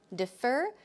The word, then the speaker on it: defer: Defer, the stress goes on the second syllable, defer, defer, defer.